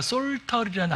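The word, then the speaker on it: psaltery: 그러니까 구약에 종종 등장하는 악기가 솔터리라는 악기가 있어요. 여기도 역시 이제 영어에서는 P를 빼고 발음해요. 솔터리.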